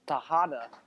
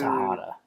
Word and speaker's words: Tejada: If you can get Tejada right, you can get Rojas right. It's the same thing. A silent J. You pronounce it. Okay, That's whatever. what- If you said know one, you Rojas? Okay, I've had enough of this school lesson. If you know one, you should know the other. They're the same thing. I've had enough of this. They're both pronounced with the H.